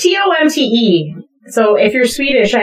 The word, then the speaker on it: Tomte: Tomte or Tomte? It's Tomte.